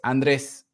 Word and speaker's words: Andres: it actually uh is it's okay is Andres and um yeah there